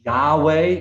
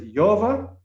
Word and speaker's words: Yahweh: y h v wh yahweh that's all mispronounced every culture has their own way of saying it but it's yova and it is if